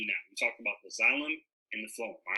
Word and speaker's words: xylem: Miss Trent, am I saying it right? Where's she at? Yes, it's xylem. Okay, cool. So I'm saying it right.